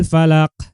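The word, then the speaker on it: فلق: Falaq ini adalah qalqalah kubro atau qalqalah besar, ya. Qalqalah besar yang berada pada akhir. Cara membacanya itu huruf qaf dengan lebih jelas. Ya, harus lebih jelas. Ya. Qul a'udzu birabbil falaq. Falaq gitu, ya. Qul a'udzu birabbil falaq. Harus lebih jelas huruf qafnya.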